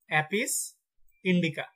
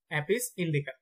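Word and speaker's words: Apis indica: তারপর মৌমাছির বৈজ্ঞানিক নাম হচ্ছে অ্যাপিস ইন্ডিকা, অ্যাপিস ইন্ডিকা।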